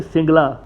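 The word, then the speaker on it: සිංහල: सिन्हाली को वैसे हम कहते हैं सिन्हाली, लेकिन अगर आप लोकल ज़बान में देखेंगे तो कुछ प्रोनाउंसिएशन इसकी होती है सिंगला।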